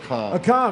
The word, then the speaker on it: Akam: And what's the last one pronounced? Akam? Akam, that's what I said.